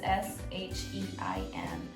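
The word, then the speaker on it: SHEIN: i bought them from sheen it's spelled as s h e i n it's she in and in um but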